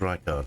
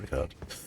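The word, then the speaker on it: Rykard: what i call in rickard she says it's his name she tells me his name's pronounced reichardt so we'll henceforth we'll call him reichardt instead of regard sword which picked up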